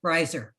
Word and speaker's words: Reiser: It would be like if it was spelled R-E-Y. Okay, Reiser.